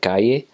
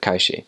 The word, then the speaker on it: calle: with that dialect is whenever you have a double l or a y syllable you would pronounce that with a sh like an sh sound instead of a like